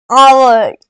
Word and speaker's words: hour: The train is dash hour late, ये एच है, ये एच साइलेंट है, इसीलिए ये आवर ये वावल साउंड कर रहा है, आवर, इसीलिए इसके आगे एन यूज होगा।